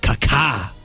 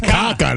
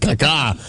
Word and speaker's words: Kaká: That's Kaka. That's not Kaka. That's Kaka. He's got the little accent on the second syllable.